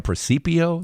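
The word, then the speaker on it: presepio: of the nativity set a precipio that's the Italian pronunciation it's all of that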